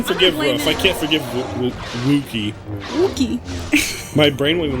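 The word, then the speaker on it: Wookiee: Okay, so you're pronouncing Wookie, like, or you're pronouncing it... You need to switch those, is my point. It's roof and wook, like W-U-K.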